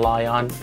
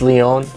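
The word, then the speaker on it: Lyon: It was funny to see Colt Eastwood also call it Arcane Lion. it's Leon, because he doesn't know his French cities and pronunciations.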